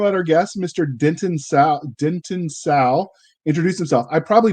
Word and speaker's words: Salle: I pronounce it Denton Salle. The E is silent.